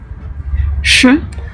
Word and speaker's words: Ш: Et enfin le Ch, Ш. qui correspond à notre CH et qu'on retrouve par exemple dans le chiffre 6, chest.